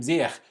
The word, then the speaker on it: Ziyech: German and Austrian TV use the Dutch pronunciation of his name, which is Ziyech.